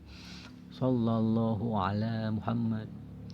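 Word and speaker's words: صلى الله على محمد: Rata-rata kita membacanya dengan sin kan? Sallallahu, padahal so dengan sin beda ya. Sallallahu, hu ada doma, ala, ain nih, ain diucapkan di tenggorokan.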